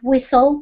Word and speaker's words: whistle: I'm not quite sure about it, but I think it is whistle because you don't pronounce the T sound.